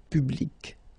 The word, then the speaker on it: public: you can see that you've got this final say and then you pronounce it public okay so you will